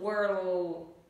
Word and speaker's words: world: Nhớ cho mình là không đọc là W mà từ này nó là R trong cổ họng. R. Đấy, miệng phải chu giống miệng của cổ họng này.